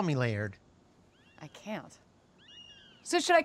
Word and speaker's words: Laird: is my husband Laird layered like lasagna lasagna no layered layers are you saying that right yeah one syllable layered okay just call me Laird I can't so should